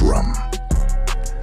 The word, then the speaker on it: Ram: plexus or manipura chakra the Mantra Ram pronounced rum originates from ancient